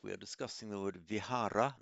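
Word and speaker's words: vihāra: We are discussing the word vihara. Note I said vhara there, not vihar vharam.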